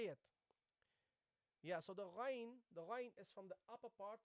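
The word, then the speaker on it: غ: So you say gha, gha, gha, ghain, ghain. Okay? ghayril maghdubi. Okay? So that's how you pronounce it. Gha, gha. Okay? It is very close to the kha.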